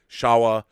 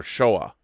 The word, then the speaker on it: Showa: well just to clarify if you think Hobbes and Shaw or Howard Shore that's a close approximation of how to pronounce the show in Showa ie Shawa or Showa that is good to know it's kind of a drawn-out oh but your Heisei is